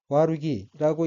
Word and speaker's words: 悪気: 다음 어휘는 한자가 한국어로 악기이고 각기, 아칼라, 기운기자이고 일본어로는 와루기라고 읽으며 와루기는 악의, 나쁜 꾀란 뜻입니다.